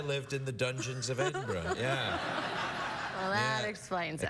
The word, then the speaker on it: Edinburgh: We went to Edinburgh.